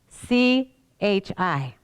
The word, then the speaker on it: chi: X is a Greek letter, C-H-I, which in English is pronounced chi, and in Greek, he.